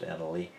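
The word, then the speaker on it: Annaly: next we'll look at annalee capital management that's a-n-n-a-l-y and the symbol is n-l-y which also can be pronounced anally and i've had this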